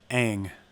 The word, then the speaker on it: Aang: Aang.